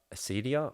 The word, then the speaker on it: acedia: We're talking about acedia on the weekend.